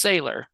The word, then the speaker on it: Saylor: I'm not sure if I'm pronouncing something right. So it's Saylor, you said.